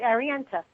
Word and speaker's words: Arienta: Now, Arienta, first I want to ask you, is did I get the pronunciation right on the name? You did, Arienta. Arienta, perfect.